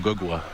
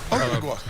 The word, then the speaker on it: Anunoby: My real name is OG Anunoby.